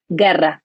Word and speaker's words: guerra: So all that generation was about war, surviving, guerra. When I pronounce it in English, it doesn't come out as good, but guerra, right?